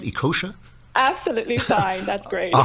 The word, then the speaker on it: Ekeocha: fighting them oh well good luck am i pronouncing your name right ikosha absolutely fine that's great all right you can